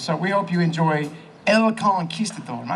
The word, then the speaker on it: El Conquistador: So we hope you enjoy El Conquistador. Am I saying that right? You have to roll your R in that.